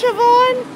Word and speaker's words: Siobhan: It's like Siobhan. It's Siobhan, right? Like Yvonne? It's S-I-O-B-H-A-N. I think it's Siobhan.